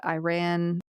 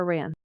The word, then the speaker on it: Iran: Uh some uh I think like in India, Iran, is it Iran or Iran? Iran. Iran. If you're going to pronounce it correctly.